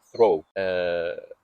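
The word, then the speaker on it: through: يعني كلمه ثرو فيها جي وهيتش بس مش عاملين اي صوت في اي حاجه بقى، مع ان احنا برضو عندنا حرف الاف، يعني هو حرف الاف موجود.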